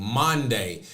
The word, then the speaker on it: Maundy: I'm not saying Monday as in Monday, Tuesday, Wednesday, Thursday. M-A-U. I'm saying Monday. It is spelled Maundy, Monday, Thursday.